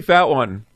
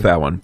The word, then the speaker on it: Fatone: Well, technically, you could pronounce it that way, even though it is spelled exactly that way. It's wrong. Spiritually? Or just phonetically?